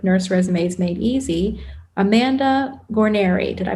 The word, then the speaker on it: Guarniere: episode episode 44 nurse resumés Made Easy Amanda Gary did I pronounce it right yes you did yay okay